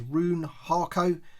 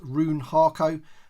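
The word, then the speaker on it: Rune Haako: out of the packaging I think his it's his name is pronounced roon harco as I said he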